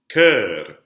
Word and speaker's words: cœur: You have two different words. One means heart. One means choir. They're pronounced the same. What do we call that? A homophone. Yes, so the words sound the same.